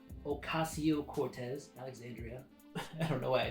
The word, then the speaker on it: Alexandria: that book last but not least we have alexandrea ocasio-cortez Alexandria I don't know why I didn't say it